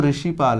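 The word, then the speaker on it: ऋषिपाल: एक एग्जांपल बताऊं हां जैसे मेरा नाम रिषीपाल है श्रुति जो ऋषि पाल है तो इसमें सबसे ज्यादा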